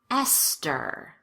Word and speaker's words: Esther: The most common exceptions are words that are spelled with TH, but pronounced as t, or the T sound. Let's go through them together. Repeat after me. Thomas. Teresa. Tie. Time. Thames. Esther.